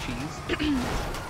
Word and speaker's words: Chez: It's spelled C-H-E-Z. It's pronounced cheese.